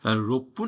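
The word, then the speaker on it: ろっぷん: এড হবে ঠিক আছে রোপপুন এটা কিভাবে পড়বা রপপুন ঠিক আছে আমরা ছোট সু কখন ইউজ করব যখন ডাবল উচ্চারণ নিব আর কি ঠিক আছে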